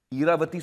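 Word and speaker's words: Ira: और मैं आप लोगों को बता दूं कि आईरा जो है is another name for Saraswati. इरावती सुना है आप लोगों ने? तो उसका शॉर्ट फॉर्म है इरा। But Reena wanted to pronounce it आईरा।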